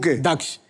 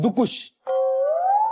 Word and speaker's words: दक्ष: दक्ष लोग मुझे मुझे क्या बुलाते हैं? लोग मुझे बुलाते हैं। और यहां पे आके मुझे नया नाम का वेरिएशन मिला है। दुकुश।